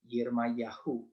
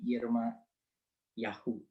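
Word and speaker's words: ירמיהו: Ini begini tulisannya, ya bacanya kira-kira begini ya, Yirmayahu, ya Yeremia ini Yirmayahu, ya yang mempunyai makna Tuhan itu tinggi dan Tuhan itu mulia.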